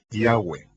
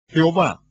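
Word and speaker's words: Yahweh: ni siquiera lo sabían yo pronuncio su nombre yahwe josefo dijo que había cuatro vocales sobre la mitra del sumo sacerdote yot he bab he que son pronunciadas como vocales en un solo respiro yahwe fluido yahwe en la literatura griega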